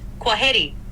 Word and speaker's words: kwaheri: It's pronounced kwaheri.